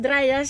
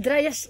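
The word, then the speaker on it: Dryas: que se le suele Llamar dras se escribe d y r a s el dras reciente que duró aproximadamente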